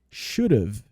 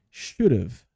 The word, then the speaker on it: should have: Normalmente a gente contrai esse should have e ele fica should have. Olha só a pronúncia aqui, should have.